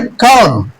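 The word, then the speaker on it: calm: ये वर्ड है काम। काम है। क्या है? काम। तो एल क्या है? साइलेंट लेटर्स है।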